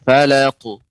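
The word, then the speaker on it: فلق: Cuman catatannya untuk pengucapan falaqu. Ya, ini untuk qaf, ya, terkhusus qalqalah dengan qaf ini lebih tebal. Qaf, ta, ya, karena dia huruf isti'la.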